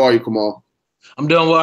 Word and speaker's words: Kamal: is our special guest tonight on this episode, Kamal Bell. Am I pronouncing your first name right? Yes, you are. You are. Cool. So how are you, Kamal?